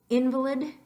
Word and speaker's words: invalid: Invalid, invalid. So they have all the same letters. You're mostly pronouncing each individual letter the same, but you're putting extra emphasis on a different syllable.